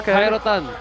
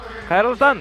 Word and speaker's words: Khairultan: Thank you, Rahmet, and Rahmet to you, Khairotan. Khairultan. Yeah, nice. Here we go.